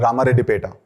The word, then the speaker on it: Ramareddipeta: uh it's my surname sir how do you pronounce uh ramar Peta yes sir is a very famous